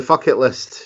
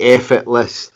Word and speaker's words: Fuck It List: Okay, well then the fuck it list should be acceptable. Aye, fair enough then. On TV and radio during the promotion, it's often been the effort list, the rhymes with bucket list, with various euphemisms.